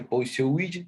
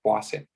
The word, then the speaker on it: Poiseuille: escribe hoy si willy pero no se dice por su witch se pronuncia o hacer la ley deja bien pase es la ley